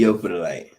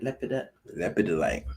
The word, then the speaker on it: Lepidolite: Leopardite. You pronounce that right? Lepidolite. There you go.